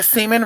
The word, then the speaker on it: semen: like I said before semen rhymes with demon right we'll talk about